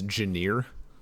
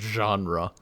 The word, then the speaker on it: genre: general for like actual words was I would pronounce genre as janer because it was one of those things where